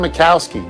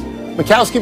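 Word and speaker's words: Majkowski: happy 57th birthday Don macowski what a great nickname the magic man because of how his name is spelled m ajk macowski was the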